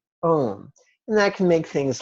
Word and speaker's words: om: On the out-breath, we're going to intone the syllable om. In brackets, I've written out the word home and underlined the O and the M. So in other words, as if to infer om as in the word om.